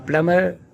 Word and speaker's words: plumber: A plumber works in homes, commercial buildings, construction sites. A plumber does plumbing, the system of pipes and fixtures in a building. Plumber. B is silent in this word.